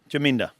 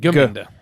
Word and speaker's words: Ginda: cute freckles and ginda she said jinda no she said ginda well ginda jinda it's important you pronounce someone she anyway she's a